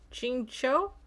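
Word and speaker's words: Qingque: So, oh, uh, is that Shingq? Is that how you say it? Shinky. Shink. Maybe. Chingcho. Chingcho. That's what it is.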